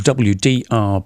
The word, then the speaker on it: WDR: the VDR or the WDR big band. I'm saying VDR because that's how you say it in German.